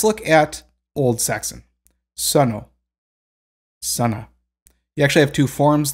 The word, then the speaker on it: Sunna: high German mercenberg terms it's actually not pronounced sooner I mean we all sort of say it that way because we're accustomed to it but technically the pronunciation of her name is Sana so again you can